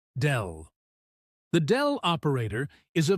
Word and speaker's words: del: It is written as a downward pointing triangle and pronounced as dell.